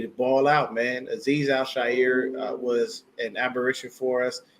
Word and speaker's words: Al-Shaair: So the next guy up on the list is Aziz Al-Shaair. And that's how you say it, people. It's not Al-Shire or anything else.